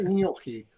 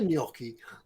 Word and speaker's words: gnocchi: to tell you Ted I can tell you exactly how that's pronounced because I've got like 40 packs of new yorky downstairs it's a gnocchi I was gonna say new yorky okay oh yeah we